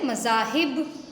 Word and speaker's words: مذاہب: بدل جاتا ہے۔ جیسے پہلا لفظ ہے مذاہب، میم پر زبر ہے، زال پر زبر ہے، ہے کے نیچے زیر ہے۔ تو پہلے دونوں حرف